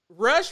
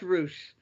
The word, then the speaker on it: Rush: came into the picture rush versus andrade might be a really good match it's pronounced roosh rush against andrade will